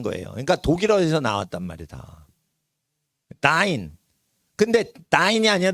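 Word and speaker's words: dein: 다인. 근데 다인이 아니라 데인으로 돼 있죠. 데인. 읽을 때 어떻게 읽어요? 데인이죠. 그럴 때 요즘 데인이라고 안 읽어요. 왜? 데인 하면 힘이 들어. 그래서 에인데도 아인이라고 발음을 해요.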